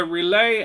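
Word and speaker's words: Relaeh: as best he knows oh yeah okay so relay um is spelled um the audience is amused um relay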